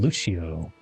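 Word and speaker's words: Lúcio: I played a lot of Mercy and Lucio. Luce Lucio, right? That's how you pronounce his name.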